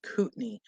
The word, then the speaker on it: Kootenai: totally agree with you it's pronounced Kootenay oh Kootenay okay thank you you're too